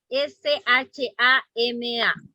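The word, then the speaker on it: שמע: si la puerta sí la palabra hebrea llama shama está en el chat hermano también okay es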